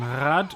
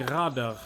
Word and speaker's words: Rad: Rad is advice, and rad wheel are pronounced the same.